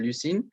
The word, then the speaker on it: Lucine: we have also lucine so i pronounce it with the french accent uh lucine and is the first pharma